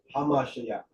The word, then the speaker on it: Hamashiach: That's why I said we stress the ha, the definite article. Hamashiach.